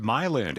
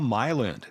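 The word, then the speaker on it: Milend: Slade with another great tip from my friends at Myland, Atlanta's local experts for home loans.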